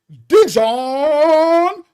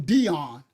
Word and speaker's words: Dijon: We call him Dion, right? In the hood. I had never heard his name pronounced Dijon. Now remember, we in Canada, that's French.